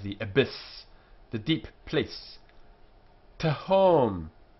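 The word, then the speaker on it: תהום: Tahom, a syllable that begins with two consonants, as this one does here, and between them is the short eh sound. Tahom. The syllable ends in a consonant. Tahom, so it's closed.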